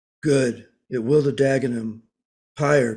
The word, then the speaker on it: Pyre: Pyre, capital P-Y-R, capital E, pronounced pyre as in funeral pyre.